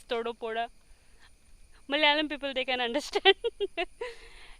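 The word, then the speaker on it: Thodupuzha: right now I'm in Todo Pora it's so difficult to pronounce for me I used to but the pronunciation is totally different it's Todo poda Malayalam people they can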